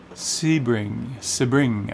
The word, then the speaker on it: Sebring: Sebring, I think they call it, is the proper way to say it, but that's where we are.